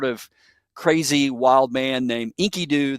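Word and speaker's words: Enkidu: And he becomes friends with this um sort of crazy wild man named Inkyoo. That that's his name, Inkyoo, spelled with an e, e n ki du.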